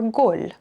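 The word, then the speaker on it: گُل: This word, depending on context, can be gel, mud, or gol, flower, or like a goal in soccer or football.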